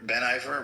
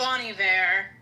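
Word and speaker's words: Bon Iver: Ben, Ben Iver, Ben, what's his name? Is that what his name is? Bonnie V. Yeah. It almost throws me off because it's spelled like Ben.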